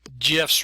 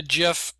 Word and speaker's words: GIF: Uh Steve Wild, uh Steve Hillight, Willilhight, the creator of the GIF at CompuServe, says the name with a soft G like giraffe.